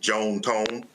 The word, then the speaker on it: John Tom: They were Southern from Mississippi, so they pronounced it Joan Tone.